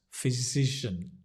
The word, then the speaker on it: physician: checkup Juliana it says it sounds like saying the word decisions cisions physician yeah it's a good